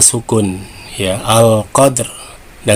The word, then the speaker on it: qadr: Lailatul qadr, bukan lailatul tapi lailatul qadr ya. Kemudian cara membaca waqaf ya 2 sukun ya, al qadr. Nah, ketika dal sukun ini berarti qalqalah sugro ya. Nah, dibacanya dipantulkan lailatul qadr.